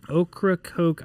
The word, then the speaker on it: Ocracoke: the inner side of okra coke island north carolina is that did i pronounce it right now pronounce it perfect that's an indian uh name heritage name cool so uh so ocracoke island off north carolina